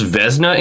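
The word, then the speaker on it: Vezina: I used to pronounce Vesna incorrectly because I had never heard anyone actually say it out loud. You always put an extra syllable in it and it drives me fucking bananas.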